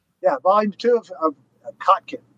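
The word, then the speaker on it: Kotkin: most common objections was just people saying read Crockkin.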